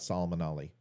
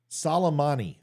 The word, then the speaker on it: Soleimani: I guess you're forgetting about Solomon Ali. Salmonella. Iran leader. Why is that giving me such problem? Obviously, you know more than me because I can't pronounce the guy's name. Soleimani.